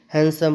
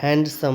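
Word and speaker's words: handsome: ई as silent है हैंडसम पढ़ते हैं यहां पे डी नहीं रहता है हैंड समम नहीं पढ़ते हैं अगर हैंड सम पढ़ेंगे तो ये प्रोनंसिएशन क्या हो जाएगा गलत हो जाएगा यहां पर क्या पेंगे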